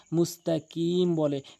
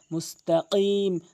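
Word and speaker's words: مستقيم: হয়ে যায় তাহলে আইনটি হলকের মাঝখান থেকে এভাবে উচ্চারণ করতে হবে এরপরে ইহদিনা মুসতাক অধংশ মুস্তাকিম বলে মানে এই কফের জায়গায় কাফ এনেউচ্চার কফটি হচ্ছে জিহ্বার গোড়া উপরের তালুর সঙ্গে এভাবে ধাক্কা দিয়ে মুস্তাকিম তাহলে আশা করি আমাদের ভুলগুলো বুঝতে পেরেছি এরপরে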